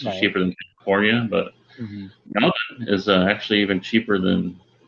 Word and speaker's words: Melbourne: other day, like what the rent's like in Melbourne, where he lives. Right. You notice I pronounced it Melbourne? Yeah, you're practicing. Melbourne. It's not Melbourne, you damn American.